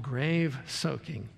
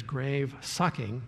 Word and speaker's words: grave soaking: things is what's called grave soaking sometimes it's mispronounced as grave sucking you hear that but